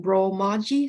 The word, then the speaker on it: Romaji: So it's pronounced Romaji, so it's written Romaji.